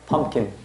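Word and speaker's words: pumpkin: 호박. 또이 세 개 겹치지. 중간 발음 하나 안 한다 해서 펌킨.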